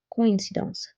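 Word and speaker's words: coïncidence: If you see the word coincidence, coincidence, if we do not put this accent, it will be pronounced as coin, coin, because O and I pronounce together as oua, oua, like moi, toi.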